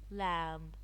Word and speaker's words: lamb: the be silent lamb lamb the B again it's silent no the K silent